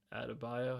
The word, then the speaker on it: Adebayo: He's like Bam Adebayo.